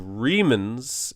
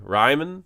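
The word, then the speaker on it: Riemann: Thanks to Reman's investigation, probably got his name wrong. Sorry, Ryman. Reman Ryman sounds nice actually.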